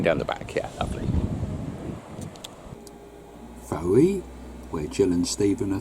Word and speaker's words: Fowey: Fowey, where Jill and Stephen are thinking of moving to. Is that where we are? Yep, that's the main car park. Fowey, isn't it? No. No, you pronounce it Foy.